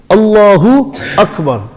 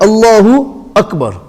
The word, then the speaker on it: Allahu Akbar: Allahu Akbar. दोनों को अलग करो पहले. So you get Allahu Akbar. Allahu Akbar. When you have two separate words, pronounce them separately.